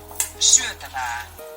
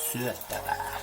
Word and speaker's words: syötävää: Pay close attention to the vowel sounds. Listen and repeat. Syötävää. Syötävää.